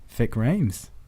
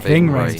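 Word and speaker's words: Ving Rhames: Vic Rames. Ving Ray. Ving Ving Rames. Rhames. I always say his name wrong, but I love him anyway.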